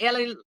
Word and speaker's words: Elie: So Ellie, he said Ellie rhymes with jelly and m that rhs with crystal.